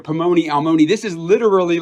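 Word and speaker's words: פלוני אלמוני: In the Hebrew, Boaz calls to the man, and the phrase ends with this Hebrew phrase, Pomoni Almoni, and you can kind of hear that it rhymes in there, Pomoni Almoni.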